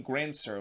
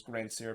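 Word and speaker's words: Grandsir: actually pronounced his name grand sir which yeah that's not how you pronounce it you have to pronounce it in a french pronunciation which is gran sier because you know samuel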